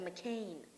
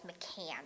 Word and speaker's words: McCann: I think he could do better than McCain. First of all, it's McCann. If you want to say his name, do it right. McCann.